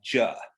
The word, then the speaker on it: zhe: But anyway, the basic Mandarin pronunciation of it would be Zhe. So in like modern pinyin, the way it's spelled is Z-H-E, like Zhejiang is a province. So Z-H-E, Zhe.